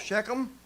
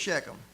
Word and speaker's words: Shechem: So Jacob settles in Mine said he settled in an area called Shechem. That's the way I pronounce it.